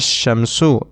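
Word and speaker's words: الشمس: both of the nouns but in one noun we pronounce it and in the other noun we do not pronounce it for example in a sham so we directly connect the hamza with the shin as shamsu and we leave out the lamb and in the other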